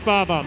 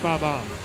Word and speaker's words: Bob-omb: I told you, it's Bob-omb. Look, man, you may make fun of my Mario Kart pronunciation all day long, but I tell you I'm right when I say it's Bob-omb.